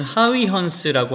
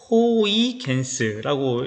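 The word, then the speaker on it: Huygens: 자, 여기 보면은 하위헌스라고 하는, 그리고 우리 영어 미국식으로 읽으면은 호이겐스라고 읽기도 합니다. 하위헌스, 호이겐스 똑같은 사람이에요. 1600년대 사람인데요.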